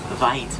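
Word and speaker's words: wyd: Actually get their name for the mispronunciation of the Afrikaans word weit, which means wide, not white, and it's because of their wide jaws that they get that name.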